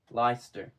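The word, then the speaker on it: Leicester: If you look at the way it's spelled. It's not L I, is it? It's L E I. Lester.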